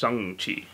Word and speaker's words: Shang-Chi: seeing that shame cheese chocolate ray is actually pronounced seong chi why shane yo talking about the dog yeah